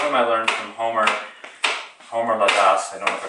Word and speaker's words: Ladas: I learned from Homer Ladas. I don't know if I pronounced his name right. You pronounce it in the Turkish way. Ladas.